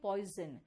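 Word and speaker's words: poison: इसका एस का साउंड तो स होना चाहिए ये ज है आप कभी पॉइजन कहते हो क्या नहीं ना आप कहते हो पॉइजन यानी कि एस का साउंड ज भी आ रहा है अब देखो यहां पर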